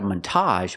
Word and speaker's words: montage: have this word a montage we're going to stress both syllables not a montage but a montage the first syllable is the short a man Montage a montage is a